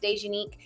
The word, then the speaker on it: Dejanique: I know when you see it up there on the screen, it's kind of hard to pronounce for some people, but it's pronounced Dejanique.